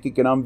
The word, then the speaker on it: Gnome: I'm going to pronounce it Gnome because I know what an acronym is, but if whatever.